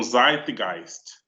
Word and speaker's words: Zeitgeist: Naquela aula passada, alguém não estava entendendo a pronúncia, né? Então, Zeitgeist.